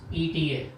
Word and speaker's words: eta: Actual spelling is ETA. It's a Greek letter. It is spelled it's pronounced as eta.